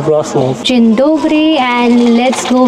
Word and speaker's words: Wrocław: Basically, in English, it is Wrocław, but in Polish, it is actually pronounced as Wrocław.